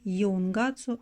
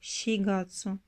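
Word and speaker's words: 四月: Mitaka, janvier, ichigatsu, février, ou le deuxième mois de l'année, nigatsu, le troisième mois, sangatsu, le quatrième mois, shigatsu, et non yungatsu, mais shigatsu.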